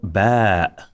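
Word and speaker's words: باء: This is called Ba. Ba'un, Ba. So you can see that I'm not saying Ba, Ba.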